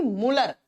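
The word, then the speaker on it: Mulder: करने वाले साइंटिस्ट थे मूलर एम यू एल डी ई आर D silent रहेगा जब आप प्रोनाउंस करेंगे तो इनको मूलर कहते हैं मूलर जी ने बताया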